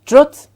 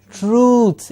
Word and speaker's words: truth: remember it is not truth it is truth it is a long sound truth truth tell me